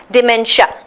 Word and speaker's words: dementia: de men2 I a is actually pronounced as sha not sure dementia yeah so what's dementia